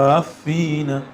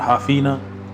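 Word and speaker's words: حافين: Itu cara bacanya gimana, Ustaz Ali? Wa taral malaikata haffina. Gitu. gitu ya. Jangan hafina, hafina min haulil arsh.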